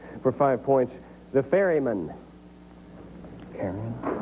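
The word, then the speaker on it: Charon: Karen. Kyron. Pronunci. Karon is right.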